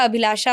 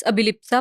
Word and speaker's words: अभिलिप्सा: change होते जाता है मैं जैसे उड़ीसा से महाराष्ट्र तो अभिलिप्सा का अभिलाषा हो जाता है और इधर से महाराष्ट्र साइड से पंजाब साइड आती हूं तो वो कुछ और प्रोनाउंस करते हैं तो हमेशा रीजन वाइज मेरा मेरे नाम का प्रोनंसिएशन चेंज होते रहता है वैसे इट्स अभिलिप्सा पंडा अभि यूनिक नेम है